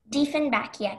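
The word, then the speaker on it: Dieffenbachia: Diefenbachia. Am I pronouncing it correctly? Yes. Diefenbachia.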